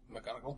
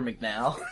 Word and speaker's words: McGonagall: McGonagall. McGonagall. Whenever I read Harry Potter before the movies came out, I called her McNow because I didn't know how to say it.